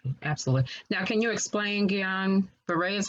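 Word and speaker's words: Guillain-Barré: your treating professional absolutely now can you explain guillain-barre is how you pronounce that yeah right yes yeah yes so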